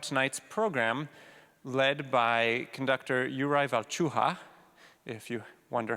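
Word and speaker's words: Jakub Hrůša: to talk about tonight's program led by conductor Uriah chu ha if you wonder how to pronounce that that is how you pronounce it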